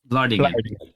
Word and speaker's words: Vlaardingen: Vlaardingen.